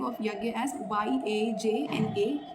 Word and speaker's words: यज्ञ: So usually you will find the spelling of यज्ञ एज YAJNA. सो डू not pronounce it as Yojana, it is called as यज्ञ. Okay, the spelling is like that, but you have to say it yajna.